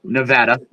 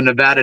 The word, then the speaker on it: Nevada: And for everybody who doesn't know, it's pronounced Nevada, the Nevada desert, on how fast Japan would fire up if we dropped like fire before.